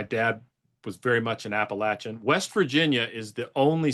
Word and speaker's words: Appalachia: How do you pronounce it appropriately? Appalachia.